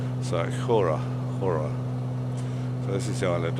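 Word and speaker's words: Χώρα: It's CHORA, but I know from Hania that the CH is pronounced H. So Hora. So this is the island of Hora that we're just coming up to.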